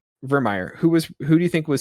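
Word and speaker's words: Virmire: Is it Vimir? How does that pronounce it? Vermeer.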